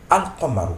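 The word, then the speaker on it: القمر: seconde qui le suit ce Lam là est prononcé normalement donc ici nous allons le lire al nous allons le lire alqamar nous le lisons alqamar le LaM du Alif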